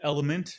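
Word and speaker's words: LMNT: So, it's called Element. It's spelled, it's like an acronym, LM NT. So, but think of the word element like movement watches.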